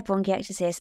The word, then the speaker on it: bronchiectasis: Hope I pronounced that something like right. Yeah, bronchiectasis.